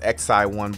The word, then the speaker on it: XiOne: of comcast's new streaming box uh well it's pronounced xi1 but the spelling is going to be a